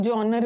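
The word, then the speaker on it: genre: इसको बहुत लोग जॉनर भी बोलते हैं, बहुत लोग जॉनरे भी बोलते हैं, अलग अलग प्रोनाउंसिएशन, जॉनर या जॉनरे।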